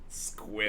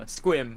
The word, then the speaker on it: Sequim: Probably Squim. Squim? Yeah, That's not real. Yeah, that's it's literally real. what I said. That sounds like what you call a fake rubber bullet. Squim. Yeah, Squim.